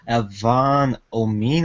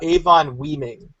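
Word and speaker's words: Avon Oeming: It's written by Brian Michael Bendis and drawn by Michael Avon Omin. I'm not sure if I pronounced that right. I think it's pronounced Avon Weeming.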